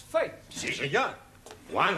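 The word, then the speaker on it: fête: For example, F-E-T-E is also pronounced fate.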